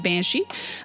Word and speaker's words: Beansidhe: And this is a game about Irish history, so Banshee is actually spelled Beansidhe, but it is pronounced Banshee.